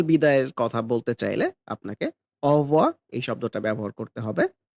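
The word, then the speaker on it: au revoir: আমরা একবারেই বলে ফেলি অ ভো মানে এই রো যেটা আছে সেটা কিন্তু সাইলেন্ট থাকে খুবই হালকা থাকে কিংবা অনেক সময় আমরা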